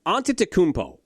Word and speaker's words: Antetokounmpo: By the way, how are people still unable to pronounce his name? Antetokounmpo.